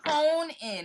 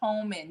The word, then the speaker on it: home in: So a lot of times people say hone in. It's home in. You really want to say home in.